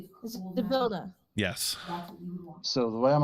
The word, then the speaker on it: Zybilna: I'm just trying to figure out what happened to oh my god, I can't pronounce her name. Zybilna. Zabilna? Zybilna.